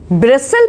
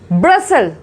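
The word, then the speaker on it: bristle: देखिए इसको क्या पढ़ोगे आप? ब्रिस्टल पढ़ोगे, इसको ब्रिस्टल पढ़ोगे, ब्रिस्टल पढ़ोगे? नहीं, इट्स the wrong pronunciation. The right is ब्रसल। क्या पढ़ेंगे इसको? ब्रसल पढ़ेंगे, इसमें टी नहीं बोला जाएगा।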